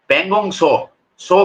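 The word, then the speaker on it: Pangong Tso: लद्दाख में भी जो पगोंग सो का मतलब होता है टी एस ओ इसका स्पेलिंग होता है पगोंग शो का मतलब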